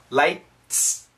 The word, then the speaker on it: lights: this s flood lights the faster we say this word the less T sound the t is very weak very small lights lights lights lights lights lights if you say it really fast it almost sounds like lice under generator powered flood